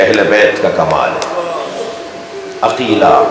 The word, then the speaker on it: عقیلہ: عقیلہ، عقیل، عاقلہ نہیں، عقیلہ. جس لہجے میں قمر بنی ہاشم بولا جاتا ہے نا، اسی لہجے میں عقیلہ بنی ہاشم بولا جاتا ہے.